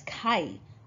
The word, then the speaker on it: 会: And if you pronounce it as kai, often it has some sort of meaning associated with meeting or gathering.